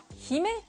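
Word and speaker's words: 姫: En fait, princesse en japonais se dit Hime, il s'écrit comme ceci.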